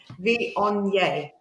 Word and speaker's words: Viognier: Or Boigner, as I call it. Viognier. Yeah. Viognier is how it's pronounced.